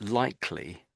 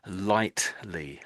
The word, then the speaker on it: likely: quite widely used, but often you will hear people say not just likely, but lightly, lightly. They mean that, but they are actually saying it sounds like they're saying um, lightly, most likely. It sounds like they're saying this, most likely.